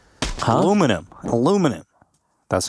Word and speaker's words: aluminum: And then the Brits started calling it aluminium. And because Americans are always wrong, people assume that aluminum is wrong. But aluminum is actually, technically, scientifically, the correct way of pronouncing it, if I'm not mistaken.